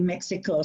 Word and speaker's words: México: Guadalajara es el capital del estado de Jalisco y la segunda ciudad más grande de México, ¿sí? Muy bien. And then, so just one little pronunciation thing.